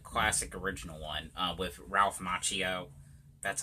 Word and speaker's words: Macchio: is the good classic original one with Ralph Macchio that's how you say his name and like